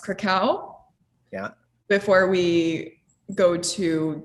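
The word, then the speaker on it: Kraków: But yeah, we will be flying into, I believe it's pronounced Krakow, Yeah.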